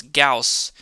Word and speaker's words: Gauss: name of my channel it's gauss after the mathematician carl friedrich gauss it's my favorite mathematician because i'm a math guy so we're going to name him gauss first name gauss uh middle name carl